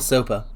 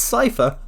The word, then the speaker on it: Cypher: Is Cypher like Cypher or Soper? Why would it be Soper? Why would his name be Soper? It's Cypher. Kingdom Hearts has confirmed how it is pronounced.